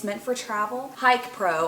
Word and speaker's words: HIKPRO: Hike Pro, I think is how you're supposed to pronounce it. It's HIKPRO. I also got this on